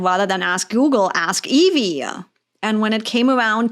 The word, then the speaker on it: Yvi: So if they haven't seen it before, if I do outreach or whatever, and it's like, no, it's not IV, it's Evie.